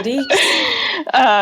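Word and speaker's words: Deacs: Yeah, go Deeks.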